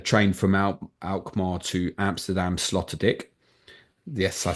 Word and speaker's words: Sloterdijk: So you can get a train from Alkmaar to Amsterdam Sloterdijk. Yes, I said that correctly. Might be Sloterdijk 'cause it's spelled like Van Dyke.